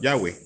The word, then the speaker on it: Yahweh: En Génesis 2, el nombre Elohim se combina con otro pronunciado Yahweh, transcrito habitualmente como Yahvé y traducido por Señor, y considerado una abreviatura del nombre completo Yahweh Asher Yahweh.